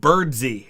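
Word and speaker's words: Birdseye: and he pronounced it birdsee i think uh angry ohio and it like you look at it it looks like bird's eye but i think he pronounced it james birdsey mcpherson if i remember right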